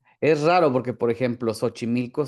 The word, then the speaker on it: Xochimilco: Es raro porque, por ejemplo, Xochimilco sí es con X y ahí sí es Sí. con Sh.